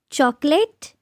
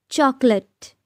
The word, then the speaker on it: chocolate: Chocolate? No, let me tell you, it's chocolate. Chocolate. There is no late in chocolate.